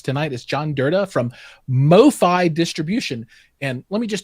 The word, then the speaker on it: MoFi: you joining us tonight is john durda from mofi distribution and let me just tell you i've wanted to call you guys mofo distributions some of our guys have that title it's it is mofi distribution because i i is that just short